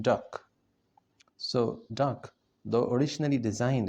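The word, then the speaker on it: DUKW: amphibious trucks known as du KW pronounced duck so duck though originally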